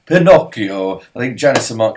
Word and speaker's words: Pinocchio: cure view Tommy's pronounced Pinocchio go back to the States you uneducated scumbags it's Italian it is pronounced Pinocchio I think Janice some